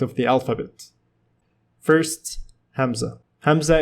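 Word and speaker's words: همزة: Hamzah is pronounced as A in apple, also known as glottal stop.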